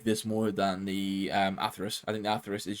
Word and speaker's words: Atheris: And then for the AWP, I have my STATTRAK Atheris, which I actually found out is should be pronounced Atheris, I think. So there you go. Pronounced it incorrectly the whole time.